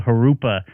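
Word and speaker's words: Jurupa: the 15 uh that starts with a J called harupa which ninety percent of the people uh including the traffic reporters always get wrong so you did very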